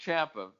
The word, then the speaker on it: Ciampa: pronounced Ciampa. I go by how the wrestlers pronounce their own names, and Ciampa himself pronounces it as Ciampa.